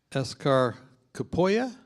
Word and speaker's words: Eshkar Kapoya: Well, welcome this afternoon, and welcome to our special guest, Eshkar Kapoya. Eshkar, Kapoya. But Eshkar, you can mispronounce it as you like.